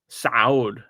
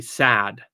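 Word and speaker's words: ص: Saud, as in, sounds like Saudi Arabia, if you like. And yet, in typical English pronunciation, this would be sad.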